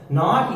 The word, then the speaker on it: nought: ही नहीं होगा कि इसको जीरो बोलते हैं। इट इज नॉट zero. इसका मतलब होता है, ये जीरो लगाया ना एप्सिलॉन नॉट के नीचे, इसका स्पेलिंग होता है NOUGHT।